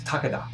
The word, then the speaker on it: Takeda: It's Takeda. That's how you say it in Japanese.